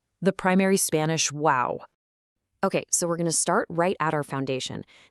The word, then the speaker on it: guau: The absolutely crucial point here is that Spanish actually has a direct phonetic equivalent to the English word wow. It's spelled just a little bit differently using G-U-A-U, but it serves the exact same purpose.